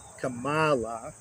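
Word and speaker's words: Kamala: be the first nonwhite woman black and Asian Cala that's how you pronounce her name took me a little bit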